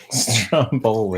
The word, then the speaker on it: Stromboli: And Paul will rate me on my pronunciation as he is 100% Italian descent. Ready for this? Stromboli. Stromboli. How do you? That's the way you say it. So that's the way you say it. Stromboli.